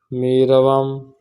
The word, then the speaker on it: میروم: در برخی واژه‌ها هنگام گفتگو واو تلفظ نمی شود. میروم در لفظ میرم گفتگو جو ہوتی ہے،